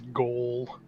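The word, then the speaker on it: gaol: I've only ever heard it pronounced as goal, which I like which is cool.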